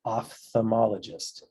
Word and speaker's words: ophthalmologist: cool facts out there, like PHTH is pronounced puth, not puth. Am I the only one who thought this? I just talked to someone who also had this problem. I thought this was ophthalmologist and this was diphthong. I would have actually misspelled ophthalmologist as OPTH, but it is actually OPHTH and it is actually pronounced ophthalmologist.